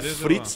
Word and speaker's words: Fritz: Mas não é o Fritz que nem escreve o Fritz do alemão? Fritz mesmo. Ah, é? É o nome dele. Fritz alemão. Ah, achei que talvez a pronúncia fosse um pouco diferente. Não, não, não. É Fritz nome.